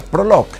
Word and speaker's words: Prologue: Este es el nuevo Honda Prologue. Y sí, ya sé que se escribe Prologue, pero se pronuncia Prologue.